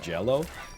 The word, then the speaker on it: Gello: It's pronounced Gello.